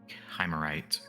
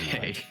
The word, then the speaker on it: Shimmerite: So is a Shimmerite or a Chimerite? Pronunciation seems to vary based on region, but she prefers to go by Okay, Shimmerite.